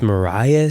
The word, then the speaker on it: Marais: And there is a silent S. There is. Like, that is... And the AI, everyone thinks Marais. I always thought Yes. I always said Marais my whole Yeah, life.